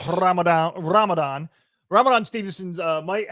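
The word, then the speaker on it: Rhamondre: see this i mean his name is uh ramalama ningdong um andre it's romandre but i'm gonna go ramadan ramadan ramadan stevenson's uh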